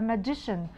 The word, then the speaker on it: magician: لكن لما بزود تبقى السي وراها اي تتنطق شه تبقى magician.